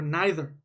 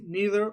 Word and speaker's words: neither: would be neither okay or neither can pronounce it both ways neither or neither okay this is the